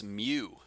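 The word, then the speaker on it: μ: tail in front uh that you pronounce mu let me write that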